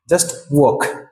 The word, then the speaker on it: walk: এটা খুবই useful and খুবই কমন একটা ওয়ার্ড, যেটাকে আমরা বলে থাকি ওয়াল্ক।